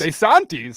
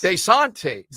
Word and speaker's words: DeSantis: it's common for Italian Americans to anglicize their pronunciations but that DeSantis surprised him he says it should be de santis DeSantis DeSantis desantes de Santi Ron desantes Ronde Sante monias d-a-y